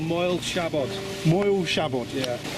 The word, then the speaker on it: Moel Siabod: mountain for me because it's called moiled shabbat moil shabbat yeah it's good to have someone who can pronounce the word anyway it's one of snow